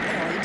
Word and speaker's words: Freud: No, Freud, not Freud. Freud. I'm sorry, I can't hear you. Freud rhymes with joy.